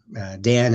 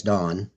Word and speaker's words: Dàn: So um um Dan is not really Dan, it's Dawn. If you know if you can follow any sort of Gaelic. So the accent on the A is draws it out and it makes it dawn cycle.